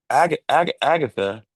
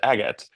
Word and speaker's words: Agathe: See, Agatha, is Agatha, is that the correct way to say it? Okay. So Yeah, you, it's right. that's Agathe right.